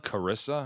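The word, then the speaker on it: Charissa: it's on its face it's spelled CH AR Issa it's like if if you didn't know right if I don't we've never met them know them it's like charas is it Chara so Carissa how are we going silent H is Carissa why why are we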